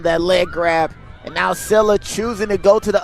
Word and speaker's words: Scylla: Stop mispronouncing Sila, as they say in the chat. I don't think they were listening to me clearly. As Sila able to control the ball cleanly, playing the